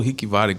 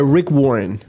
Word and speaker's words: Rick Warren: em Office sobre o eu falo Rick waren Como é que é o nome dele a pronúncia correta inglês é Rick Warren é que escreveu o